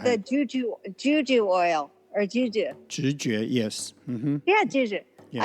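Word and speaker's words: 直觉: Intuition or intuitive in Mandarin pronunciation is 直觉.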